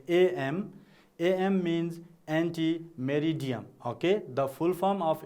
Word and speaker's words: ante meridiem: is please read with me ante meridiem so what is the full form of the term you can say a.m. a.m. means ante meridiem okay the full form of a.m.